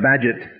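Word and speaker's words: Bagehot: was spelled b a e h o t pronounced badget you now you have a piece of information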